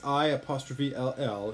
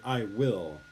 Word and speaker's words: I'll: it's written like this, I''ll, it's actually pronounced I'll, not I will. Okay. Many Koreans, when they see this, will still say I will, but you should say I'll help you with that.